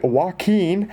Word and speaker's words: Joaquin: Hurricane Joaquin, I bet that's the first time many of you have heard how it's correctly pronounced.